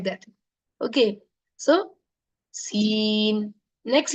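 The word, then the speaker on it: سين: it's a sharp letter there is a whistling sound coming outside s it's like the hissing of the snake hissing of the snake s like that okay so seen next letter is Sheen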